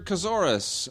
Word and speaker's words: Kazoris: Peter Kazoris, rhymes with thesaurus in Toronto, says, quick email on the topic of actors.